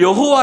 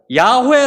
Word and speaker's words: 야훼: 이라고 생각하는 거예요 여러분 학자들이 이것을 여호와 라고 발음하지 않고 야후의 라고 발음해야 된다고 주장하는 이유가 있어요 아까 우리가